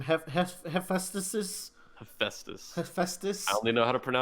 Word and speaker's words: Hephaestus: as, I can never say this god's name, Hephaestus. Hephaestus. I Hephaestus. only know how to pronounce it because in 7th grade I had to do a report on it.